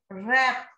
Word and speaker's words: wrap: Night, K is silent. Wrap, W is silent.